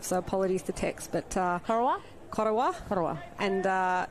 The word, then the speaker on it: Corowa: But Corowa.